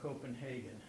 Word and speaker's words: Copenhagen: we say Copenhagen or Copenhagen? And the answer is Hagen. Why? because the Germans say Hagen and the Danes have some problems with the Germans.